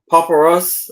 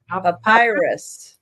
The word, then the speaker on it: papyrus: Um, paparus. I know I can never say it right. Pap P A P Y U S. Papyrus. Papyrus. Papyrus. Yeah. Papyrus. Uh plant on Papyrus. And virus. A virus. No, it's papyrus. Papyrus. Not the virus.